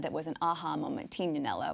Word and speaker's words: Tignanello: was an aha moment tinanello which people sort of pronounced tignanello here in the states and it became my